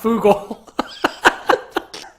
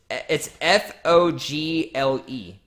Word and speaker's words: Fogle: And John, it's Fogel, not Fugal. it's Fogle.